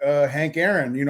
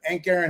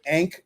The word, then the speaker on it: Hank Aaron: around and be like, Hank Aaron, Hank Aaron. I thought it was Ank, like A-N-K. I didn't even know how to say it, but everybody's like, well, who's got Hank Aaron?